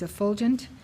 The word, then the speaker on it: effulgent: Effulgent. The pronunciation is effulgent, marked by or as if by brightly shining light, extremely radiant, brilliant.